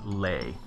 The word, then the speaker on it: ley: here so Froggy's saying it's pronounced like lay ley lines not Lee lines okay I'll go with